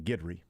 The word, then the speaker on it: Guidry: Well, let me tell you, they are all in agreement on Guidry. Okay. His last name is 100% Guidry. How is that spelled phonetically? Guidry. Guidry, they spell it Gid-REE.